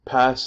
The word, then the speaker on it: PaaS: years how about this these three acronyms each of them four letters long pronounced I ass pass and sass now respectively they stand